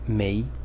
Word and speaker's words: 没: about the Chinese character May May in the second tone and its meaning when